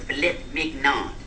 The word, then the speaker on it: filet mignon: How do you pronounce it? The young lady wants a filet mignon.